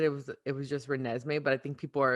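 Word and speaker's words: Renesmee: it's jacob i well everyone keeps saying jacob pronounced me but the last time she had said it was it was just renesme but i think people are assuming that it's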